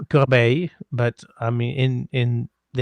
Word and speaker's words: Corbeil: It's got to be pronounced with the roll of the tongue, right? Well, it's just that like it's Corbeil. Well, I mean it's Corbeil, but I mean in